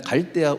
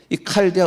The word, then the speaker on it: 칼데아: 명칭이 다 뒤바 가지고 옛날은 갈데아 우루 그런데 저 칼데라 발음을 합니다이 칼데아 우의 살던이 아브라함 할아버지가